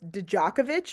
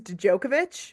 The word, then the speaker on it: Djokovic: I know I know I also mispronounced um uh Nicholas I said Nicholas dakovich versus djokovich for tennis oh um so I